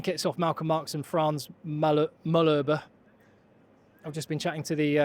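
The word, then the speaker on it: Malherbe: And I just got the pronunciation. It's Frans Mullerber.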